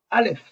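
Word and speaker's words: אלף: pris naissance alors Vous pouvez dire avec moi alf alf alf alf et la prononciation la prononciation vous et en fait il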